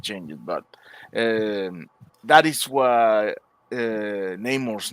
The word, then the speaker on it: Namor: on the beach, and he called himself Namor, and I was like, "It's Namor. You can't even pronounce the name right.